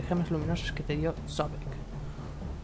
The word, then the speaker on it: Sobek: Puedes absorberlos gracias al medallón de gemas luminosas que te dio Sobek. O Sobek, como se pronuncia.